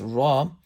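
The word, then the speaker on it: رَ: When a ra has a zabar or pesh, it'll be pronounced with the full mouth.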